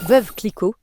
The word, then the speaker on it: Veuve Clicquot: Let's get the pronunciation right. It's Veuve Clicquot.